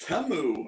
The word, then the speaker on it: Temu: commercial they said where it's like we're really pronounced temu and it's like you need to pronounce our